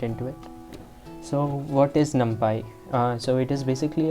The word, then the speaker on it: NumPy: but let's get into it so what is numpy uh so it is basically a python module it is actually pronounced num uh it is actually pronounced numpy